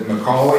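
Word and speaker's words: McColy: And is it McCauley? Is that how you pronounce it?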